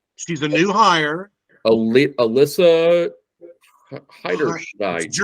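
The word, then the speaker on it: Heinerscheid: Alyssa Heiderschneid. It's Germanic. Heinerschneid, I think is how you say her name.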